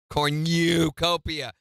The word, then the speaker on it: cornucopia: I don't think you pronounce cornucopia. I do. I pronounce it even stronger. Cornucopia.